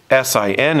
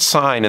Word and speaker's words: sine: So we write SIN, it looks like it says sin, but it's pronounced sine, and the reason is this is actually an abbreviation.